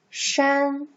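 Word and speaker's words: 山: character is like this so this character is pronounced as shen shen it means hill mountain even now you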